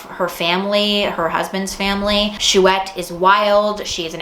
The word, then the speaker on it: Chouette: I did a vlog where I read this and I did not pronounce it correctly at first, but the book is called Chouette, and it follows a